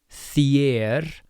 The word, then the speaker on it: þér: fannst þér So we have our thorn, the e with an accent which sounds like yeah.